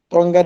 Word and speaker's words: Tonga: Australia, Philippines, Malaysia and islands like Huji, Tonga they rhyme with Anga and Pua New Guinea.